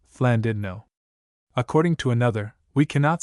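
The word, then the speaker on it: Llandudno: I the English simply and frankly after their blunt nature call the place Landno but the Welsh call it according to one superstition of their double L and their French u Flandidno.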